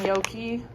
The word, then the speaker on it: gnocchi: Gluten-free gnocchi. My favorite. And yes, that is how you pronounce it.